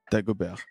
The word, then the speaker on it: Dagobert: It's like bear, like a bear, like an animal. So yeah, Dagobert. Dagobert.